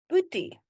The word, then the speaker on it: boetie: Boetie. Let me show you how to pronounce it.